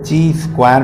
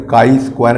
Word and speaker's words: chi-square: आप देख सकते हैं कुछ बच्चे इसको ची स्क्वायर टेस्ट भी बोलते हैं तो इसका नॉमिनेशन यानी कि प्रोनाउंस एशन में काई स्क्वायर टेस्ट कहा जाता है इसमें किस प्रकार